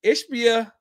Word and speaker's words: Ishbia: how do you say is is ishia yeah ishbia I understand you're trying to you know have